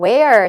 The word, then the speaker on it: where: 자, 풀이하실 때는요, where 첫 마디에 발음부터 조심을 하셔야 되네요. 네, when과 조심하시고 where이 발음이 매력적인 게 얼발음을 빠지고 이 모음 다음에 있는 얼발음이 약해지면서 발음이 잘 안 나거든요.